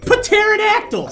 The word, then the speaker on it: pterodactyl: Obviously, it's the pterodactyl. Stop spitting on me. That's how it's spelled. It's spelled with a P. It's silent.